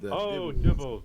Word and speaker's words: Dibbles: So you said Dibbles. Sorry. Rhymes with nibble.